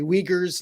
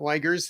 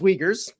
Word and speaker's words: Wiegers: to pronounce my name it's actually uyghurs not ligers and it's very very commonly misspelled very commonly pronounced the other way so so it's weakers but thank you for